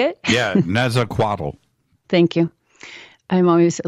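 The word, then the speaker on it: Nezahualcóyotl: Yeah, Netzaquatl. Thank you. I'm always a little insecure at my pronunciation, but he was known to have mysterious experience of the unknown and the unknowable.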